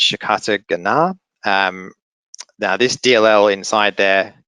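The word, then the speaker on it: Shikata Ga Nai: This is using an encryption method, and I always mispronounce this, but it's Shikata Gana.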